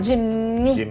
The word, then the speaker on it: Jimny: Non, c'est pas Jimmy. Hein. Jimmy, c'est un autre modèle d'auto. Non, Jimny. Hey, ça se prononce mal, pareil.